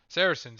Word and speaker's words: Saracens: to be persians versus sarkayans or sarah ken sarsons saracens saracens is how you pronounce it it's been a long